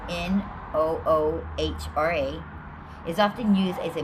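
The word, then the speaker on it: ܢܘܗܪܐ: The Aramaic word for light, which is Noha, that's not even how I pronounce this, but it's Noohra, is often used as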